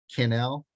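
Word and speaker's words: Cannell: name is uh Sean Canal it rhymes with uh Channel Sean Channel he lives in Las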